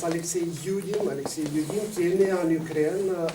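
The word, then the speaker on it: Алексей Юдин: En russe, on prononce Alexei Yudin, qui est né en Ukraine, à Odessa.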